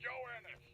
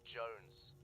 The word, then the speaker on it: Jones: Private Joe Ennis! Joe Ennis! Joe Ennis! Where the hell are you? Sir, for the millionth time, my name is pronounced Jones. Jones!